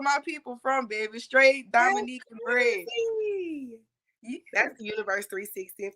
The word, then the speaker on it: Dominica: You know, I was peeping, looking or whatever, and I seen, I'm like, hold up, you never hear people saying they from Dominica for real, for real.